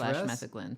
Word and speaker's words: metheglin: Danielle followed it up with I love making mead / metheglins. Stress on second to last syllable. Why didn't you just say second?